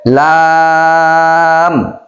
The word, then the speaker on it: লাম: তাহলে এটা কিভাবে উচ্চারণ করতে হবে? লাম। লাম। এটা 4 আলিফ পরিমাণ টান হবে।